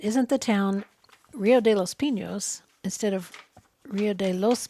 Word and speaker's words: Los Pinos: it was in the los pinos land grant and which is pronounced without the tilde and you're confusing that